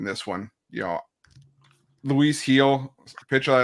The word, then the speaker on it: Gil: You know, Luis Heel, pitch I like in this rotation, but problem is the walks are getting up there for Heel over the last couple starts. It's Heel, not Gill. It's Heel.